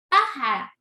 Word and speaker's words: pájara: Pájara. Pájara es esdrújula. Miren dónde está la tilde. Tenemos lo que es 3 sílabas, ¿verdad? Pájara. Tenemos, la última sílaba es ra. La penúltima es ja. Y la siguiente sílaba es pa, que nosotros decimos que